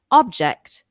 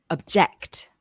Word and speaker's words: object: homograph obj ECT now this word can be pronounced object or object object object now object is a noun that refers